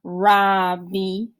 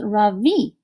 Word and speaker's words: Ravi: you how do you like einstein so far robbie yes dylan actually it's pronounced ravi i say today has been the best day